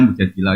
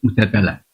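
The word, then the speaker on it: مجادلة: Yang benar itu bacanya mujadilah yang level A. Tapi umumnya orang baca apa? Mujadalah.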